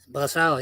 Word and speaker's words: Brossard: Brossard, yeah. Well, I knew you pronounce it right, so Yeah, It's about 10 minutes away from my hometown there.